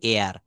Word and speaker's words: heir: এখানে বলবেন এয়ার, হি ইজ অ্যান এয়ার।